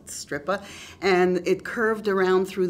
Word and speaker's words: Strypa: and boating on the stripper river i love saying that the stripper river it's spelled s-t-r-y-p-a but it's a stripper and it curved around